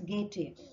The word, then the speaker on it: Goethe: दार्शनिक थे जिनका नाम गेटे, जिनको बोला जाता है, स्पेलिंग GOETHE है बट प्रोनाउंसिएशन इज गेटे।